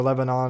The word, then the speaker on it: Lebanon: Not really going to be a concern for Lebanon or Lebanon. I I guess I go off the Tennessee pronunciation how they do it in Tennessee, which is Lebanon. Not sure if it's the same in Missouri, but Norlord, Bryant, Filler,